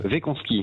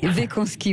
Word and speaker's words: Weckonski: Arnaud Wekanski est avec nous. Est-ce que je prononce bien votre nom? Oui, bonjour. Bonjour Cécile. Oui, presque. Wekanski. Wekanski, voilà. L'un des 3 dirigeants et